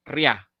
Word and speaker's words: Rihanna: Así que en el caso de Rihanna, la H no parte la sílaba en dos, es una sola, ria.